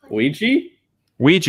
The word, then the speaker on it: Ouija: How do you pronounce it? Ouija, yeah. Origin of Evil. Okay, dude. I'll do that this weekend. Ouija, Origin of Evil.